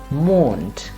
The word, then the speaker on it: Mond: Or in this particular case, we have Mond, and not Mond, but Mond.